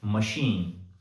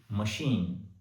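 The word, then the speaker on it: machine: और दूसरी कैटेगरी उन वर्ड्स की जिनमें सी एच को श के रूप में उच्चारित किया जाता है। एग्जांपल के तौर पर मशीन एम ए सी एच आई एन ई मशीन।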